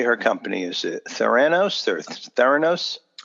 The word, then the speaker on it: Theranos: you say her company's theranos thoroughness well I say theranos but I say hurricane and I say insurance that's just the way others talk so theranos is theranos and first i'd like